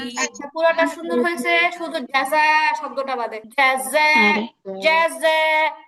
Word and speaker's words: جزاء: শুনেন খেয়াল আগে শুনেন এই যা যা এরকম হবে না যা যা এরকম হবে না উচ্চারণটা হবে জাযা জাযা ঠিক আছে জাযা ওকে